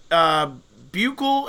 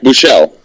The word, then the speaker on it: Buechele: No interceptions, but I gotta tell you, this Buechel, is that how you say his name for Texas? The quarterback Buechele.